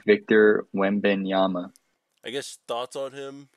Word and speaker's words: Wembanyama: Yeah, it's Victor Wembanyama.